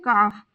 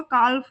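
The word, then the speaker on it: calf: English में कहते हैं काफ यहां पर एल साइलेंट रहेगा और सी ए एफ का ही हम प्रोनंसिएशन करेंगे तो इसका प्रोनंसिएशन होगा काफ ना होकर काफ काफ हथेली पाम यहां पर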